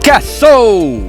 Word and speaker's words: Caso: that how it's pronounced? Caso.